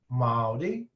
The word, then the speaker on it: Māori: So if we take the word Māori, which is M-A-O-R-I, and that A has a macron, then our first sound is going to be ma, like R, yeah, are there 3 or 2?